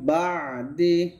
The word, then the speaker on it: بعد: এখানে একটা গুণনা করবেন আর বা দে হবে না বা দি এখানে আরবিতে একারের কোনো